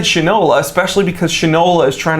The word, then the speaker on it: Shinola: lot more just like shinola is doing it's pronounced shinola okay well it should all a stupid so